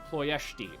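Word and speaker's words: Ploiești: when this is done the S is actually an S with a little dongle which is pronounced like a sh so it's like ployeshti okay okay thank you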